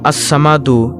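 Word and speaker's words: الصمد: আল্লাহর এই গুণবাচক নাম আসসামাদু এর জিকিরের আমল ও ফজিলত তুলে ধরা হলো। নামটির সঠিক উচ্চারণ হল আসসামাদু অর্থ হলো তিনি কারো মুখাপেক্ষী নন অভাবমুক্ত স্বয়ংসম্পূর্ণ সবাই তার মুখাপেক্ষী।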